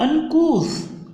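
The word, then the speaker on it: uncouth: इसका प्रोनाउंसिएशन को विशेष रूप से ध्यान दें, काउस नहीं होगा, इट विल बी अनकूथ।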